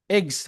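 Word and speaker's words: eggs: ইটস এ, এগস, আমরা কিন্তু ইগস বলি না, এগস মানে ডিম, আন্ডা।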